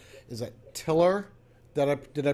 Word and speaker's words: tilr: She is the CEO of, and I want to make sure I got this right, is it tilr? Did I pronounce that right?